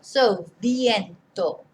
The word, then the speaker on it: viento: There's always this discrepancy about how to pronounce a V, should you pronounce it as a B, etc. I personally wouldn't recommend you to pronounce it as a B. Although you will hear it pronounced as a B, it's not good Spanish.